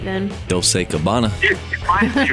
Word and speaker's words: doce: Well, Joey, what is the correct way to say 12? I think there's actually 2 different ways to say all the numbers between 11 and 19. But the one I remember is doce.